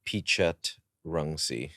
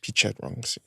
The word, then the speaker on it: Pichetrungsi: Pichetrungsi. Pichetrungsi. But that's like, you know, that's like English phonetics. If you want to really go like full Thai, it's a different I know, it's like your middle name is another.